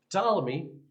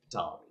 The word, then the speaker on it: Ptolemy: And yes, in Greek, they do try to pronounce that P. I'm trying my best to pronounce that P at the beginning of the word. They do pronounce it, and so I'm trying to do that as well.